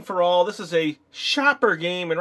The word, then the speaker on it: Schaper: all this is a shopper game and right here in the corner it says pronounced Shopper and the graphics